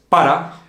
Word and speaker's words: pa: Bueno, Juan, vamos a empezar con el pa. Bueno, primero, pa. ¿Qué es pa? Pues creo que es para. Pa is para. Entonces, acortamos la palabra y decimos pa. En una manera coloquial, siempre solemos decir pa.